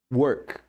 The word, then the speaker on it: work: Work. Work. Work, work, work, work, work. O trabalhe. O O tem som de ã? Were. O R caipira. Were. Were. O K pronuncia K como em casa.